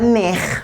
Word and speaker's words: neex: Le X, vous le prononcez avec la sonorité H. Dafa neex. Alors ça veut dire c'est bon. Dafa neex. Neex, on va l'écrire N-E-X.